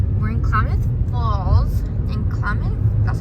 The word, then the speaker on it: Klamath: In Klamath, that's how you say it.